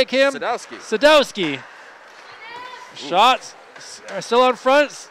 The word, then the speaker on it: Sadowski: Sadowski.